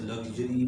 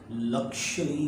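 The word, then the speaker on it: luxury: तो देखिए ये लफ्ज़ लग्जरी भी है प्रोनाउंसिएशन के अतबार से, लक्शरी भी इस्तेमाल करते हैं प्रोनाउंसिएशन के अतबार से।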